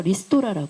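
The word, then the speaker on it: リストラ: 반드시 그렇죠 구조 조정해 일본어로는 스트럭션 발음 못 안 돼서 리스토라 합니다 리스토라 일어나요 카드 파산해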